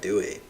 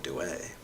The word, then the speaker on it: Dewey: lot of modern definitions people like dewey but in the spirit of pronouncing it wrong let's call him douay say that truth is